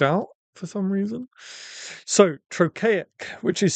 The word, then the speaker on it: trochaic: Trochaic is literally the opposite of iambic. So iambic is de-dum, or unstressed, stressed, unstressed, stressed. Shall I compare the two? And trochaic is the opposite, which